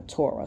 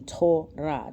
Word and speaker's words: Torah: Let's look at some of the definitions real quick in a Torah. So phonetically, it would be Torah, T-O-R-A-Y. That would be the phonetic, right? The transliteration would be T-O-R-A-H. Yeah, T-O-R-A-H. Yep, Torah, right?